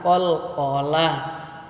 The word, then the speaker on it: qalqalah: Berikutnya adalah tentang qalqalah. Ini yang penting-pentingnya adik ya. Kalau qalqalah itu ada dua. Ada qalqalah kubra, ada qalqalah sura. Cara membacanya adik-adik, cara membacanya dibaca memantul.